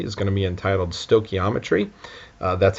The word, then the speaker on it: stoichiometry: Um, our next section here, as you can see, is going to be entitled stokiometry. Uh, that's how you pronounce that big fancy word.